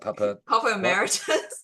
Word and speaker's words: Papa Emeritus: Papa Emeritus.